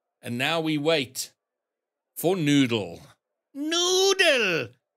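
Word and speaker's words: Newdul: Yeah, but it's spelled N-E-W-D-U-L, New Dull. So I think it's Noodle.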